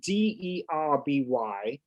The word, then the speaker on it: Derby: I grew up in wonderful England, Derby, England, which is pronounced spelt D-E-R-B-Y.